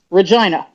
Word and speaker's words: Regina: Incidentally, that is how they pronounce the capital of Saskatchewan. Regina.